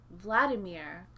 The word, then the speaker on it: Vladimir: a vodka-based cocktail and his name was vladimir which when you say it correctly it sounds a lot like bloody mirror bloody mirror i'll have